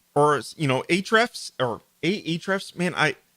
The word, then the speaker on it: Ahrefs: or aethrifs man i i hate the name of the company because it's always like how do you pronounce it i know them at the company they call it ahrefs although there is an a at the beginning so um we are